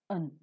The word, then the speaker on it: an: An is the next article, strongly pronounced as an, but is always reduced to its weak form, un.